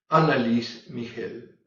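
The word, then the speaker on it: Anneliese Michel: por el cine fue análisis migel luego Así se pronuncia alemán en el fin se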